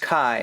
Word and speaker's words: Ki: is the quest of Kai uh which is a a prequel to the Tower of draga and uh and it is pronounced Kai I I don't know why they write it as key I guess they were